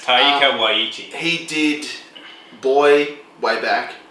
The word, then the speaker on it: Taika Waititi: I can't pronounce it right, but it's Taika Waititi.